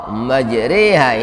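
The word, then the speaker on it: مجراها: Dengan menyebut nama Allah majriha ini bacaan imalah bacaan imalah menurut Imam kita Imam asim Rawi hafaz itu e bacanya bukan e ada Imam lain Baca e tapi Imam kita seperti kalau baca tempe sate itu enya majha rnya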